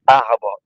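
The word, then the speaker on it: arbre: So first I will say arab a r e r e which is tree in English.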